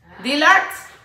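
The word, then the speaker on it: Dillard's: en la tienda de donde yo trabajaba en dealers Cómo se pronuncia Karen dillards mis botitas de shein miren mis botitas mis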